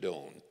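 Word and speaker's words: Donne: I remember reading a story about a man named John Doane, D-O-N-N-E, but they pronounced it Doane.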